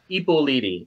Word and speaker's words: Ippoliti: Ippoliti.